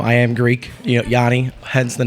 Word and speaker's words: Yianna: Yianna. Am I saying it right? Yanni.